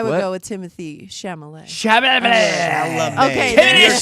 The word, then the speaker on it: Chalamet: go with Timothy Chalamet. Chalamet. Okay, You're then- saying his name wrong.